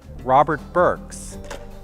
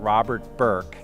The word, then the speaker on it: Robert Burks: For example, Robert Burks, not Robert Burke, is sculptor of the great Kennedy bust.